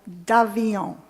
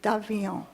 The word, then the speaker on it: d'Avion: Being of French origin, the correct pronunciation is the Festival d'Avion. Say it, Peter, d'Avion.